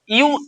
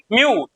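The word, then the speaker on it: mu: यू यू नहीं है ये म्यू है। क्या है? म्यू यू नहीं म्यू। ठीक है? अब पहली बार म्यू बोलोगे अगर पहले से नहीं प्रोनाउंसिएशन किए हो तो बिल्ली जैसा आवाज आता है।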